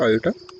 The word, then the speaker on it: iota: ठीक है, तो अब जैसे इसको प्रोनाउंस क्या किया जाता है? आयोटा।